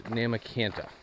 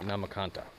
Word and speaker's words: Nahmakanta: Maybe a quarter mile back or so, I met a gentleman who's local to the area, and it is Nahmakanta. It is not Nahmakanta.